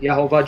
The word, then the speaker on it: Yahweh: That in Hebrew represents a consonantal name of God, Yod He Vav He, which is Yahweh, some pronounce it Yehovah, Jehovah.